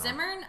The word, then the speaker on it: Zimmern: Zimmerman, because it's spelled Zimmern. It's spelled Zimmern. Look at it. It's Andrew spelled Zimmern. I don't know. Zimmern?